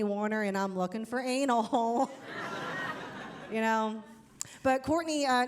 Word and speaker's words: Anil: And um and on the Zoom invite, it said his name is spelled A N I L.